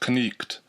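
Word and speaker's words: knyght: So in Modern English we spell night K-N-I-G-H-T, whereas in Middle English it might be spelled K-N-Y-G-H-T, and would be pronounced knicht, with a long E sound.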